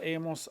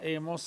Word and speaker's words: hemos: In the present tense of it is has, hemos, han. Remember the H is silent. 2 steps to this process. Haber in the present tense, has, hemos, han.